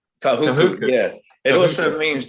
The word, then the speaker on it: Kahuku: So Kahuka, if I said it right. If I said that right. Kahuku, yeah.